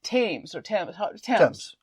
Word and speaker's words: Thames: When the Thames, that's how you say it.